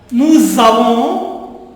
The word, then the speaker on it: nous avons: Tu as, il a, elle a, nous avons, z sound, nous avons, vous avez, z sound, nous avez, ils ont, z sound, elles ont.